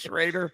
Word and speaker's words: Schroeder: Sher pronounced schroer where it's spelled schroer it's pronounced shreder he might be the